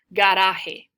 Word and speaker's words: garaje: Looks a lot like garage, it's just pronounced differently. So, repite, garaje.